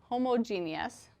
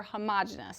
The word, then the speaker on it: homogeneous: Now, if it's uniform mixture, okay, it would be a homogeneous or homogeneous. Sometimes it's pronounced either way. Usually I say homogeneous. Some students say homogeneous.